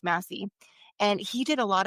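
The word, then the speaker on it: Massey: There's a sociologist called Morris Macy, Massie, I think it's pronounced Massie, and he did a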